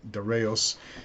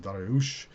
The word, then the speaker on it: Darius: So the Persian Shanashah, the great king Darius the Great, and I should say Darius is what the Greeks called him. You can call him Darius if you want to. More correctly, his name is pronounced Dariush.